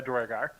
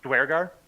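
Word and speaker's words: Duergar: It's kind of like a Spanish pronunciation, because that's how the UE is. Dwargar.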